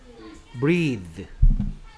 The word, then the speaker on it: breathe: 일단 첫 번째 봐야 될 건 EA의 발음이 요거는 이제 요게 요렇게 하고 나서 옆에 점이 두 개 있는 건데 이거는 이 발음은 E 발음인데 이건 옆에 점이 두 개 있으면 길게 장모음이란 말이에요. 장모음. 길게 소리 내라. 그래서 breathe. 이렇게 발음하란 말이에요.